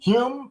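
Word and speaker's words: Hulme: she's the hyung family hume yeah i think the l is silent okay so hume juliet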